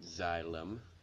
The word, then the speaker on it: Xylem: That's how you pronounce it, Xylem.